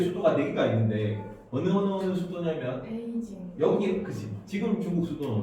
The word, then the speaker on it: 베이징: 그래서 주요한 중국의 수도가 4개가 있는데 어느 수도냐면 베이징. 여기 그치. 지금 중국 수도는 어디예요? 베이징. 그걸 한자로 읽으면 뭐야? 동경. 북경이죠. 아. 베이징이니까 베이가 북이잖아. 베이징, 네. 북경, 베이징입니다.